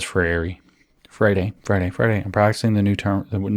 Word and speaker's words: Freire: Hence, says Freire, I'm practicing the new pronunciation, the correct pronunciation, it's not new.